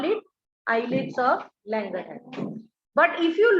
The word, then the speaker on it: islets: Although it is pronounced as eyelids, IS is there.